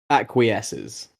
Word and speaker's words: acquiesces: yeah u i e s c e s acquiesces yeah okay yeses I don't even know what